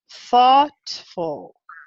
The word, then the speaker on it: thoughtful: this looks like oh but a native speaker or a native speakers say ah o u g h here is making an ah sound so you're actually saying thoughtful thoughtful thoughtful thought fault oh you